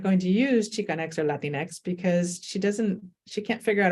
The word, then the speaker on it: Latinx: Latinx? Like, what is that, right? But it's not even the Spanish X, it's just Latinx, So I didn't use it for a while.